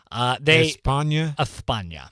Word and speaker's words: España: Now, there were 5 defendants in this case, and they busted the ringleader in España, Spain. España. That's how they say it, Steve.